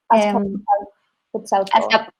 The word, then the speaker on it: Azcapotzalco: gosh, you have to help me with the pronunciation. Yeah. Azcapotzalco.